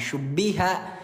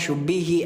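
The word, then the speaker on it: شُبِّهَ: Wakin syubbiha ah syubbiha aja tadi bacanya syubbihi ayah bunda ya keliru.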